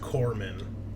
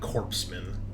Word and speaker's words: corpsman: get out like matters right it's uh it's pronounced Corman uh not corpsan uh that's little little triggering for for a